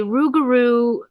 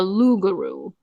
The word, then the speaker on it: rougarou: There is a rougarou folklore legend, and it's pronounced sometimes it's pronounced a lougarou, but it's a Cajun folklore.